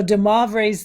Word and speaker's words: de Moivre: So de Moivre's theorem.